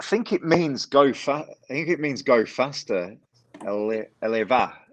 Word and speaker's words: Elva: Eleva is how you say it.